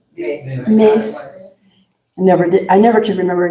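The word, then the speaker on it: Myss: Is Carolyn Mice? How do you say her name? Carolyn Mice? Mace.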